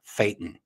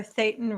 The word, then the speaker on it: Thetan: Just remember, Thetan rhymes with Satan, and you got it good.